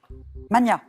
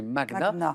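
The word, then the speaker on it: magnat: de la haute noblesseabeth Mania oui oui oui ça c'est oui en français on entend souvent Mania et en fait on doit le prononcer comme sur comme pour Magnus donc c'est magna même si on l'entend moins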